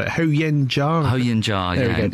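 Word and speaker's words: Huo Yuanjia: Ho Yen Jia, yeah. In Cantonese, his name was Phuk Yin Gap. Ho Yen Jia is the generally accepted name.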